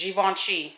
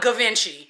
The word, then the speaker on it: Givenchy: wait i'm going to be careful with this givenchy that's how you pronounce it not givenchy i didn't heard a lot of people call it gavinchi yeah yeah i was going to say what